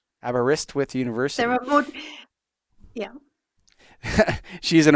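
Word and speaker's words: Aberystwyth: you say the name abber how is that pronounced abist with abist withth abist withth University there yeah she's an awardwinning author of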